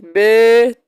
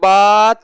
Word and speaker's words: ب: تلفظ سے پرہیز کرے، یعنی بے، تے، سے، حے، خوے، توے، زوے وغیرہ ہرگز نہ پڑھے، بلکہ با، تا، سا، حا، خو، تو، وہ پڑھے۔ ٹھیک ہے، یہ فرما